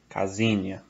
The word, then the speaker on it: casinha: It's like a Z, right? So it's not casinha, it's casinha. Casinha.